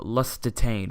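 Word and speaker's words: Liechtenstein: from the Principality of lust detained which is how you pronounce it he put in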